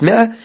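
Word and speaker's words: مائة: طبعا يا شباب كلمة 100 اسم في ألف زائد يعني يكتب ولا ينطق، ما اقدرش اقول 100 وما اقدرش اشيل الالف منها. 100 دينارا ثمنا لما استحسنه من الجواهر.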